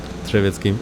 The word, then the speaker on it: Drzewiecki: Drzewiecki is how you say it.